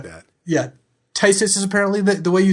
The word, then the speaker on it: Phthisis: It's got suspend for 1 and a black, and it's spelled PHTH. Is it Tysis? It is Tysis.